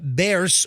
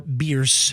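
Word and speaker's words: Bearss: gas station at uh Bears or beers beers beers is the correct way to say it actually it's right by the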